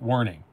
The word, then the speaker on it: Werning: It's pronounced with a W, not a V. Okay. Dirk Werning.